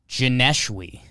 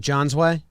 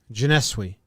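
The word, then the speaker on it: Johneshwy: Janeshwi. Janeshwi. Sounds like a French name to me. It does. Janeshwi. How do you spell it? Jon. So that's the John you were getting.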